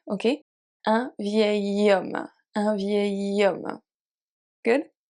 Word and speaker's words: vieil: Here we don't pronounce the L because it's part of the sound A, which is a rolling E. Do you remember A? So it's like the beginning of your yes in English. Yes.